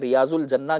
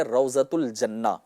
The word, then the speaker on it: روضۃ الجنہ: ایک باغ ہے، اور عام بول چال میں لوگ اسے ریاض الجنہ کہتے ہیں، لیکن اصل جو اس کا صحیح تلفظ ہے وہ ہے روضۃ الجنہ۔ لہٰذا یہاں پر میں